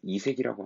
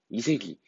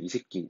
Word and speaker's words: 이색: 이색이. 이거 좀 발음할 때 조심해야 돼. 이색이 아니라 이색기 될 수 있거든요. 발음할 때 조심하세요.